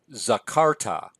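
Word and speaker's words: זָכַרְתָּ: We've got zakarta. Zakarta. Notice the tone syllable is the second to last, and this ending is very characteristic of a perfect verb and 2MS in particular.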